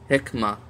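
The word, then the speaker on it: حكمة: that faculty Hikmat and when we pronounces at the end of a sentence or by itself then we say hikmah hikmah and this turns into a h hikmah so knowledge and wisdom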